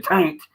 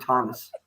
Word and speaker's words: Taunus: Say it right, Dad. It wasn't a taint. It was a Ford Taunus.